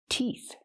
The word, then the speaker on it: teeth: Use the long e sound like green beans. Teeth. The t makes the t. Release t sound. T. And the last sound is f. Make air with your tongue and your top teeth. F again. T. Teeth.